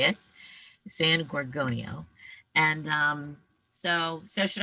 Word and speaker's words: San Gorgonio: San Gorgonio.